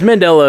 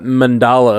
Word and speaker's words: Mandela: yeah whichever you want yes mandela effect is how you say the man's name i always thought mandala effect i've always heard it